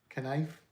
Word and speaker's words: knife: Pronounce K and I F E. Knife.